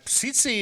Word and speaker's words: Tsitsi: Tsitsi it is, pronounced Tsitsi. Tsitsi. Tsitsi, the first T is silent.